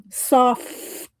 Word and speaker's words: SOFFT: Y'all know, love me some soft. I say it like that because it's written SOFFT.